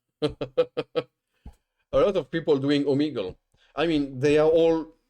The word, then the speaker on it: Omegle: That's how you pronounce this website? Omegle.